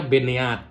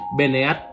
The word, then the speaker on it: Beneath: Ini tuh dibacanya Beneath ya. Ada karena ada H-nya di akhir, kita bacanya Beneath.